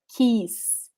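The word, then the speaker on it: que: have kill u e the u is muted we don't pronounce it so we only have the sound of e keys keys okay okay so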